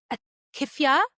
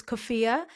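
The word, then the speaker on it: kufiya: gonna say this wrong, a kifa, a traditional Palestinian checkered scarf around her waist like a skirt. Hi everyone, it's me from the future. I'm just here to uh correct my pronunciation. It's Kofia.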